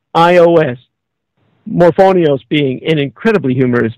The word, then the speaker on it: Morphonios: fry so this ji morphonios surname spelled m o r p h o n i oos morphonios being an incredibly humorous name as it rhymes with phonics kind of it's It's ill iterative